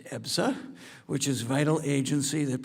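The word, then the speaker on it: EBSA: In July, the subcommittee held a hearing examining the Department of Labor's Employee Benefit Security Administration known as EPSA, pronounced EPSA, which is vital agency that protects workers hard-earned health and retirement benefits.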